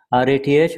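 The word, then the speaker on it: Rath: R-A-T-H or it's pronounced Rat.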